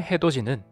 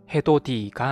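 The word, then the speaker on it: 해돋이: 음마의 대표적인 예시이기도 하죠 왜 해도지 헤도 디가 아니라 도지로 발음하는 걸까요 국의 음하는 음절 끝소리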